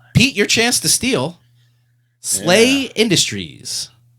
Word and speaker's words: SLA Industries: to steal slay Industries SLA Industries pronounced slle slay Industries you know H I don't know the hero system guys made Champions her no that is incorrect slay Industries produced by uh I see slay Industries pronounced slay SLA is a role playing game